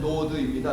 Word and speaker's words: 노드: 하는 곳에 정착을 합니다 정확히 발음하면 노드입니다 노드 에너지예요 에너지 노드라고